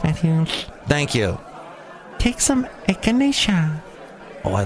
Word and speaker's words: echinacea: Take some echinacea. Oh, I like the sound of that word. How do you say it? Echinacea.